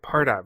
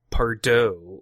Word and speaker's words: Pardot: all this time right why is it part up versus Pardo or some other pronunciations so the founders apart